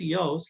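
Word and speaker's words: Jauss: as a literary critique yaouz a uss pronounced eos he talks about the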